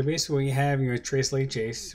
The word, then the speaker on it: tres leches: And they just did a tres leches cake, and I wanted to show my version of it. So basically, we have, you know, tres leches, or tres leche is the proper pronunciation, is three creams.